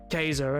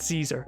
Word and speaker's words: Caesar: pretty sure of now in actual Latin it would have been pronounced Kaiser and not not Caesar which the sea should